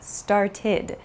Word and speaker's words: started: pronunciations so for example start becomes started it has an id sound it's not an ed